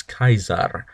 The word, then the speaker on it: Caesar: move on number 10 Julius Caesar or also known as in Latin Julius Kaiser that's correct um classical Latin quote